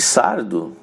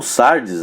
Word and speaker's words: Sardes: nas aprendemos sobre a carta de sardo ou sardes as duas pronúncias dois termos estão bom e nós vimos que